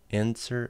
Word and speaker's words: NSWER: pronunciation of their fan their fandom is in answer answer like answer without an a I'm just going to